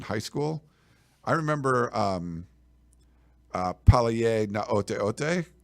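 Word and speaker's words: Gaoteote: But his last name starts with a G, but it's pronounced Naoteote, and I was like, okay, so.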